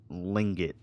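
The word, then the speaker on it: Tlingit: slink it twink it it doesn't sound like they're saying lingit this there's like the t before it this bathroom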